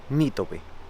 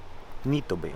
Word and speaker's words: Nitobe: se pronunciaba correctamente y me dijo que es Nitobe, Nitobe, o sea, con el acento en la NI, Nitobe.